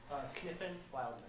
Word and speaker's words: Kniffen Wildeman: Kniffen Wildeman. Did I pronounce that right? Close enough. What's the correct way? Kniffen Wildeman. Kniffen Wildeman, okay.